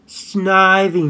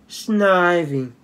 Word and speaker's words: Snivy: packs Pokemon Japanese first I forgot sniping it's pronounced Snivy nuts nippy Snivy that's I was said in the anime Oh